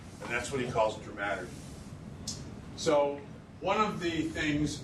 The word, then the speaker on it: dramaturgy: I used to say dramaturgy, but it's dramaturgy.